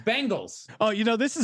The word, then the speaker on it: Bengals: and what'd you say isn't it bengals but there's like three different pronunciations i don't know how you just said it everybody says he says bangles like the girl band yeah it's it's bengals oh you know this